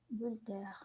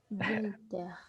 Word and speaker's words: Voltaire: Voltaire. Voltaire. Sí, gracias por la pronunciación.